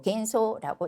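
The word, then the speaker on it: 幻想: 자, 반드시 표기 문제로서 들어올 수도 있다는 거 의식하시고 환상은 환을 아로 발음하지 않고 겐소라고 읽겠습니다.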